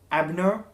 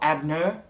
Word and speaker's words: Abner: It's a little bit confusing because the Penguin is, in this book, the Penguin is known as someone called Abner, or Abner. It's spelt A-B-N-E-R.